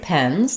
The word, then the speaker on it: pens: pens to write with the letter e is the typical pronunciation of letter E when it's by itself in English which is the e sound I call that The Red Tent vowel and the mouth is